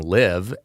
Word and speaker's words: LIV: live in a dif in addition to just sounding like it's uh saying live liv is how it is spelled it is the roman numeral for 54 which is both the